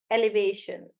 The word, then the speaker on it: elevation: For example, let's take elevation. Elevation. Then the stress shifts from the front towards the end.